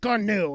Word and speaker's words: GNU: ask you know stallman or anybody else it's gnu it's nothing else um but since i mean it is spelled the exact same way as a little